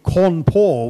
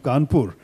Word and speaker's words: Kanpur: If something was simply a British mispronunciation, as you know, Cawnpore was the official name of Kanpur until after independence, Cawnpore. And that's because the British spoke that way.